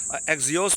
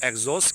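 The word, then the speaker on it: Axios: एग्जिओस भी उसको कहते हैं। कुछ लोग इसको एग्जोस्ट कहते हैं। ए एक्स आई ओ एस जो है इसकी स्पेलिंग होती है।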